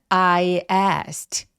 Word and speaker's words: asked: 그래서 이거 발음을 어떻게 하냐면 I asked asked. 근데 as 크트라고는 안 하느냐? 왜냐하면 ask에 s와 t가 계속되잖아요. 중간에 있는 k가 살짝 걸리기 때문에 잘 발음 안 하고 부드럽게 그냥 넘기셔도 돼요.